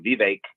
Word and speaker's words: Vivek: The Vivek, I always say it wrong, Vivek.